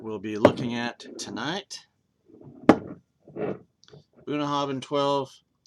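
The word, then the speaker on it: Bunnahabhain: Bunah Havin 12 actually I think it's pronounced with a V bunah and then Craig Alaki one's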